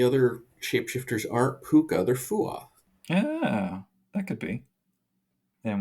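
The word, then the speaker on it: Fuath: It says to pronounce it Fu-oth, but I think it's Fuah.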